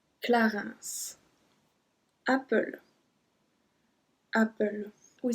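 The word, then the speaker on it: Clarins: bourgeois bourgeois then me Clarence Clarence and we have to pronounce the S at this one Clarence after after we say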